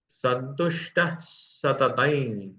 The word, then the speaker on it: संतुष्टः सततं: संतुष्टः सततं, यहाँ विसर्ग का उच्चारण स के जैसा होगा, क्योंकि उसके बाद का जो व्यंजन है वो स है।